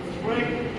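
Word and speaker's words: cruet: At the end, since more people use salt than pepper, the salt should আজকে বললাম যে ক্রোয়েট সেট, ক্রোয়েট উচ্চারণ হচ্ছে ক্রোয়েট, স্পেলিংটা দেখ, স্পেলিংটা দেখ, ক্রোয়েট সেট মানে কি?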